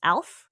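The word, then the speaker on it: Aleph: The correspondences, the Hebrew letter is Alph, A-L-E-P-H. Do you know that this is a silent letter?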